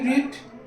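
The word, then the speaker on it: read: পড়েছিল তাহলে প্রথমে কি সুপ পড় ইংলিশ কি রিড রিডের পাস্ট ফম যাবে এখানে একটা ব্যাপার আছে রিডের পাস্ট ফম হচ্ছে কিন্তু বানানটা সেম থাকে আর শুধু উচ্চারণটা পাল্টায় ওটা রেড হয়ে যাবে।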